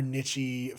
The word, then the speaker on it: niche: is gonna be more nichey fetishes to put as the thumbnail. They say niche. Well, it's pronounced. You can say it either way.